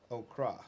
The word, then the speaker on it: Okra: Okra. Okra. Okra. You got to roll that R.